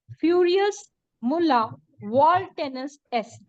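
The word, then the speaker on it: Furiosus nulla voluntas est: इसको फिर से मैं प्रोनाउंस कराना सिखा देती हूँ, फ्यूरियस मुल्ला वॉल्टेनस एस।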